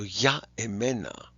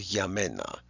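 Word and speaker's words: για μένα: So ya emena gets cut to yamena.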